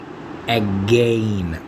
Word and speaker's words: again: Thou gavest me thine, not to give back again. طبعا again و against تلفظ against بالhead, against to again، وعلى مود تتوافق مع القافية slain. أنا حكيتها again بصوت ال A.